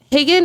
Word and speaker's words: Haagen: name haen uh Hagen is spelled like hogen dos ice cream uh if that is an easy way to remember it uh I also have